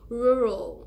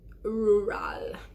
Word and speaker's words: rural: forgot in my basic English well the correct pronunciation for our you RAL is rural not rural okay so that's one that's the third rather